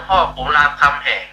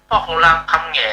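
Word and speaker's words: พ่อขุนรามคำแหง: อือ เฮ ต้อง อ่าน ว่า พ่อ ขุนราม คำ แหง อ่ะ เฮา อย่า อ่าน พ่อราม คำ แหง่ บ่ ได้ เออ แต่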